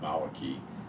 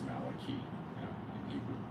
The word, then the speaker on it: Malachi: know going on again I think they have a name in Hebrew that they do called Malaki and I think it's Malachi pronounce Malachi but I got bad accent